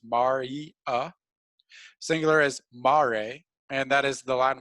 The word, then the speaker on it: mare: i know it looks like maria but it's pronounced mari singular as mare and that is the latin word for seas